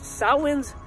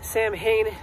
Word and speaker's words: Samhain: to go check out sahwan's lot also known as samhain for those who mispronounce it before i forget at